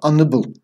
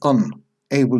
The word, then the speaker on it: unable: Quick pronunciation here. It's not unable. Here we're using the prefix un. Able is a word by itself.